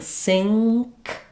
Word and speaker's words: sink: It's actually an NG and a K sound. So when I'm saying sink, I'm saying an NG sound and then my K sound. And so you can say, try saying sink and then leave your K off. Sing, and then you can feel where that NG sound happens.